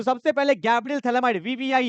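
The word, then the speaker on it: Phthalimide: ये इसको बोलते हैं थैलेमाइड। क्या बोलते हैं? PHTHALIMID, ये थैलेमाइड।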